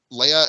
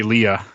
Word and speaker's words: Leia: yeah he's like leia and a couple of other people are constantly calling han solo hand yeah exactly it's they also don't say leia they say leah in this video that's true